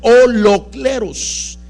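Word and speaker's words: ὁλόκληρος: la palabra todo es un término griego bien importante que quiere o se pronuncia o los cleros y la palabra o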